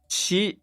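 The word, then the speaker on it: ち: Okay, so someone in Discord just said, why is it Chi and not T, right? This is why I do not like Romaji pronunciations, because it makes it confusing for people. It's pronounced Chi.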